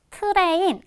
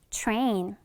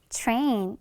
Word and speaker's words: train: 그래서 살짝 치읍 발음을 넣어주면 되거든요. 그래서 train. 한 번 더 train 이렇게 들릴 겁니다.